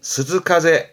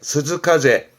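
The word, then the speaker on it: 涼風: 있던 후와 같은 한자인데 발음이 스즈카제 스즈카제 주로 뜻으로 읽게 됩니다 위에 있던 음독 보다는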